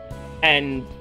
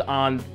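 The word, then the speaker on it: Ann: volleyball position and is basically essentially beating up and saying that her friend won't get on the team if arm doesn't do what he wants her to do and he basically just told on to meet him at his place tonight why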